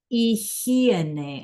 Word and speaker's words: higiene: So we are talking about, clase, la higiene. It's a very difficult word. You can say it to yourself out loud. La higiene, right? The H is silent and the G sounds like an H.